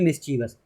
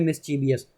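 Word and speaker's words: mischievous: अपना गलत ठीक है इसकी सही स्पेलिंग होती है एम आई एस सी एच आई ई वी ओ यू एस जिसे बोलते हैं मिसचीवस और यहां पर हम पढ़ रहे हैं मिसचीवियस तो हमसे गलती हो जाती है मिसचीवियस वगैरह में तो ये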